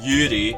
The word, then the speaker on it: Yuri: the Japanese pronunciation is like Yuri, Yuri? but you can just say Yuri, dude.